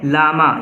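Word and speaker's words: llama: इसका नाम क्या है लामा यह डबल है एक साइलेंट है इससे पहले हम लामा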